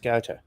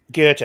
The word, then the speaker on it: Goethe: I think he met Goethe at because his mum would have what they called salons, and Goethe was a part of that.